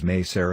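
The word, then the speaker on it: Mỹ Sơn: site meser though spelled as my son it's pronounced as meser in Vietnamese meser is a cluster of abandoned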